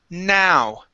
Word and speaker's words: now: Instead of no, this word is pronounced now. Now. Excellent. Now, the trick here, okay, in the chat box I wrote a word. It has a K at the beginning. When it has a K at the beginning, that word is pronounced no. Okay, no. I know what you're talking about. This word is now with an ow sound.